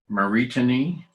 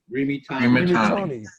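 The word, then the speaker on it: רימיתני: And the Hebrew word, oh, good grief, is it Maritani? Laramot. Oh no, Remitani. Rimitani. I put the emphasis on the wrong syllable.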